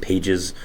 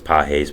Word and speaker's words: Pages: the Dodgers Andy peses I did pronounce it Pages um which was completely my fault I did not know as peses but I do know